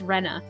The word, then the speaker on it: Rena: Oh, I won't say anything, but yes, it's pronounced Rena.